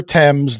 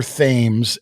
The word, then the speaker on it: Thames: And I'm going to apologize upfront because I know that I'm going to call the river temps, the river themes at least once by accident tonight because I'm reading notes and that's how it's spelled.